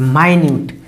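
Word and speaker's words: minute: तो माइन्यूट, माइन्यूट का अर्थ समझ रहे हैं, अति सूक्ष्म या बहुत महीन, बहुत महीन, ठीक है ना।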